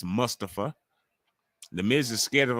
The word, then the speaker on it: Mustafa: please be respectful and say his name correctly let's not Mustafa it's Mustafa The Miz is scared